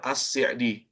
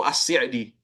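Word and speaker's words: السعدي: tafsir ini kitab tafsir assdi assdi ucap ni faedah juga ya tambahan jadi pengucapan yang benar itu assidi bukan ass'di ass'di itu benar itu penisbatan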